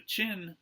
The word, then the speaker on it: Qin: Okay, the Warring States period came to an end with the rise of the Qin Dynasty. That's spelled Q-I-N.